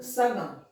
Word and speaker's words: संगम: उसी तरह से है संग सगम। सगम तो शब्द नहीं होगा, स ग म क्या होगा? संगम। म है यहाँ नहीं, संग यहाँ हम उच्चारण कर रहे हैं नाक से, संगम।